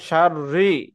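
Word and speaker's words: شَرِّ: ومن شر حاسد এই إذا শোনো, حسد অমিং শাররি এরকম মোটা হবে না, হ্যাঁ, অমিং শাররি, অমিং শাররি, রি, রি হবে না, রি হবে রি।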